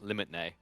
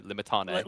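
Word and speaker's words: Limitanei: He's always like, Limitne. And I'm like, no, Limitane.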